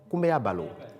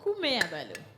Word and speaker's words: Kumeabalo: Les natifs de vendredi, en tant que garçons, on les appelle Kumeabalo. Kumeabalo. Alors, Kumeabalo s'écrit comment?